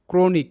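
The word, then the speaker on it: chronic: এর অর্থ যন্ত্র মেরামতকারী তো এখানেও সিএইচ ক হিসেবেই উচ্চারিত পরবর্তী শব্দ ক্রনিক সি এইচ আর ও এন আই সি ক্রনিক এই শব্দটিকে ভেঙ্গে নিয়ে যদি উচ্চারণ করি তাহলে হবে সি এইচ আর ও ক্র এন আই সি নিক ক্রনিক ক্রনিক ক্রনিক শব্দের অর্থ দীর্ঘস্থায়ী কোন রোগ।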